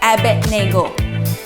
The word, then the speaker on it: Abednego: young men your names are slightly hard to pronounce say with me Shadrach Meshach and Abednego that's right correct okay let's watch the video